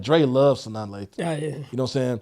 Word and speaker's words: Sanaa Lathan: Sanaya Lathan. Sanaa Lathan, that's one that I would say sexy.